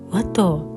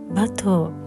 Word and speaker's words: Watteau: 私は以前動画でワトーとカタカナ表記してしまったのですが、正しい発音はバトーになります。